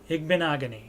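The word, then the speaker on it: Igbinoghene: So again, Igbenogany is how it's pronounced. I have heard announcers say that as well, so hopefully they know.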